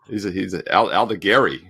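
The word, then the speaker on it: Aldegheri: Born in Italy, so he's Allegari.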